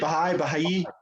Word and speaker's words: Baha'i: Baha'i.